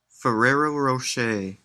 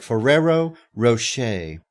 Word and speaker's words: Ferrero Rocher: was that I'm sorry fero Rocher oh okay Ferrero Rocher Ferrero Ro I can't hear it well it's